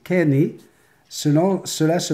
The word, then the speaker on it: Kinney: Mon nom de famille se prononce comme le dernier que tu as dit, c'est Kenny.